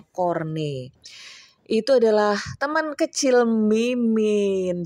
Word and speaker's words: Corne: Karena ini si Edward Corney ini jadi bukan corn ya, bukan jagung. Banyak banget tuh yang ngomongnya Edward Corn, emangnya Edward jagung. Edward Corney, bacanya Corney.